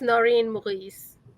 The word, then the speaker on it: Noreen Maurice: It's Noreen Maurice. Thank you. I apologize. I try. I actually used to live in France, and Noreen just explained to me that you kind of roll the R as if you were almost in French or German.